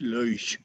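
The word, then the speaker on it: loess: so these are the lych ills and if you pronounce it predicta or next correctly like a german would because it's a german word it's luis that was located along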